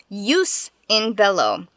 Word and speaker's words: Jus in Bello: like found the chicken foreign episode 12 use in Bellow I looked up how to pronounce that is it right to sacrifice one